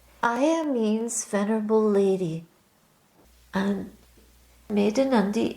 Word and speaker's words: Medhanandi: means venerable lady and maandi is pronounced made a n with a d at the end literally it means the